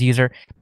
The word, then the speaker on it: usr: but inside of USR, which I think most people pronounce it as user. I know I pronounce it as user.